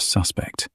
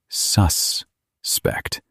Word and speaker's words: suspect: In legal and procedural English, pay attention to the stress in this word. As a noun or adjective, the stress is on the first syllable. Suspect. These are suspect goods. Goods that might be dangerous. He is a suspect, a person thought to be guilty or infected. But as a verb, the stress is on the second syllable.